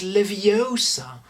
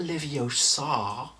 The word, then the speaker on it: Leviosa: someone's eye out besides you're saying it wrong it's leviosa not livio sar that's just amazing when